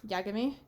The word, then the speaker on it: Yagami: even someone like Light Yagami isn't very good without L like he needs Light Yagami Yagami as in I am gay and this is the